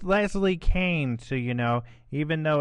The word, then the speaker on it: Leslie Kean: and uh or you could Google her it's pronounced Leslie Kane so you know even though it's spelled k